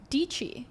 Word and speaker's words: Dietschy: So it instantly became this branding element that also solved a problem of, DIETSCHY, because it rhymes with peachy.